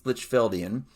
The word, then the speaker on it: Lichfeldian: I think it wouldn't be Field, so I think it's Lichfeldian.